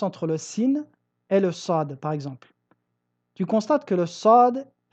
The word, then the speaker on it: ص: Nous disons sad. Tu constates ici que la langue se relève jusqu'au palais, jusqu'à l'encercler comme si elle allait se coller entièrement contre celui-ci.